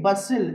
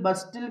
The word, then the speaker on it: bustle: HUSTLE హస్సిల్, BUSTLE బస్సిల్, CSTLE క్యాసిల్, RUSTLE రస్సిల్. అంతేగాని ఇలా చదవకూడదు, హస్టిల్, బస్టిల్, క్యాస్టిల్, రస్టిల్ కాదండి, హస్సిల్, బస్సిల్, క్యాసిల్, రస్సిల్. రూల్ ఏంటండి, whenever you find STLE or STL, the T must be silent letter, right?